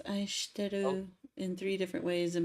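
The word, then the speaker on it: 愛してる: So it can maximally be aishiteiru, 6 syllables long, but you can scrunch it to aishiteru, 3 syllables. Aishiteru. If you and in spoken Japanese, you will often hear it said like that because she and su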